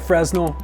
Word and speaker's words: Fresnel: Looks like Fresnel, pronounced like Fresnel.